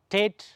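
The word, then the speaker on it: טית: கொஞ்சம் அழுத்தி இந்த டீயை கொஞ்சம் அழுத்தி உச்சரிக்கணும். டேட்.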